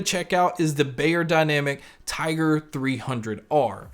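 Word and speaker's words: Tygr: And the pair we're going to check out is the Beyerdynamic Tiger 300R. And Tiger is spelled T-Y-G-R.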